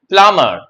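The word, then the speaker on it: plumber: নয় ক্লাইম্বিং যেমন হচ্ছে পি এল ইউ এমবির এখানে বি সাইলেন্ট হয়ে যাবে হয়ে যাবে প্লামার নট প্লামার ও স্যার যেমন নামার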